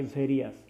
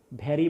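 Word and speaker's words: various: করলাম তখন এটা কিন্তু উচ্চারণ আমরা জানি ভেরিয়াস, ভ্যারি বলবা না কখনোই।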